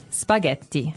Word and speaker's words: spaghetti: Spaghetti. Spaghetti. Oh, you pronounce the double T as well.